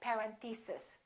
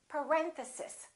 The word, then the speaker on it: parentheses: mistake on this one a lot of them say something like parent thesis and it's actually the second syllable it's parentheses parentheses next one these can be